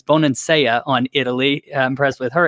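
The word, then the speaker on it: Bonansea: impressed with Bonin Seiya I got her name wrong in the past it's Bonin Seiya on Italy impressed with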